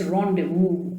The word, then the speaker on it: rendezvous: a very interesting word also notice the pronunciation of it it's rendezvous okay ah because it is a french term with death ronda vook